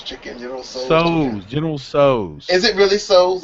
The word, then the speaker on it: General Tso's: would like this, and they repeat it back, General So's. So it is General So's. So it is confirmed. General Tso's is pronounced S-O apostrophe S Pretty much.